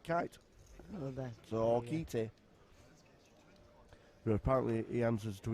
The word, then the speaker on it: Kite: Even though apparently it's not pronounced kite. Kite. Apparently. Kite.